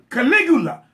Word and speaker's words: Caligula: It's Caligula. Caligula. You know what? Man, I'm from a very small town, and I tend to fuck words up. Caligula is in the building.